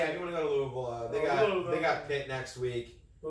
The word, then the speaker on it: Louisville: It's not Louisville, it's Louisville. You gotta say it like you got a lot of dip in your lips. Louisville. The more mumble, the better.